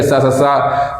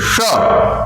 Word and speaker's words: श: जो है गलत करते, सा सा सा बोल देते हैं, लेकिन इसके उच्चारण के लिए भी जीभ को थोड़ा सा अंदर ले जाइए, हवा भरिए, उसके बाद इसका उच्चारण करिए, श ऐसे करके उच्चारण करिए।